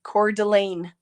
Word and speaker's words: Coeur d'Alene: go to Japan cherilyn Coeur d'Alene core Delane I know it's core though because I am Canadian